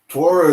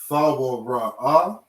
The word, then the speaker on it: Torah: Torah is not real Hebrew. Shalom is not real Hebrew. THAWRAH or THAWRAH is how you actually pronounce this word.